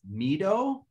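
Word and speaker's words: Mi-do: The girl's name is Mido.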